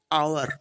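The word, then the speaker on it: hour: তার আগে তোমরা অনেকেই করো এ বসিয়ে দাও, কিন্তু এটা পুরোটা কিন্তু টোটালটা ভুল, কারণ এখানে এইচ ও ইউ আর এটা হচ্ছে হাওয়ার নয়, ভালো করে উচ্চারণ করলে এটা হবে আওয়ার, এটা হবে আওয়ার।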